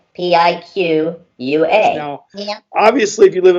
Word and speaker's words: Piqua: I am from a town called Piqua, and that is spelled Piqua.